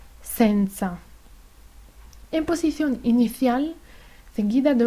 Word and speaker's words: senza: la s española es la s italiana tiene sonido sorno en posición inicial seguida de una vocal por ejemplo senza senza en posición inicial seguida